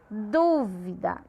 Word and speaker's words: dúvida: A du é a sílaba tônica. Como ela é antepenúltima, ela é uma proparoxítona.